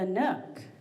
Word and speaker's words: Nook: He was actually part of the creative team that named The Nook, which rhymes with book, and I was sure I was going to trip all over that.